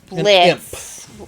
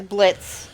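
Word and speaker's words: Blitzø: named uh now it's Blitz an imp uh whose name is Blitz o is silent the O is silent anyway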